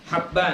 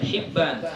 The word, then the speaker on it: Habban: bin Yahya Bin habban cara baca hab dengan mahkan huruf ha dan huruf ba yang bertitik sat haban ya bukan Hiban haballah bahwasanya khid bin